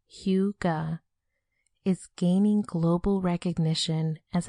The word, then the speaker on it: hygge: Huga, pronounced Huga, is gaining global recognition as a happiness, togetherness, and wellness concept.